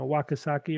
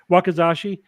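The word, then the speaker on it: wakizashi: katana and then the I always get this name wrong a wakasaki or something Bas a shorter version of it which for indoor fighting basically yeah you're right if you're in close wakazashi you're yeah you got that wrong for some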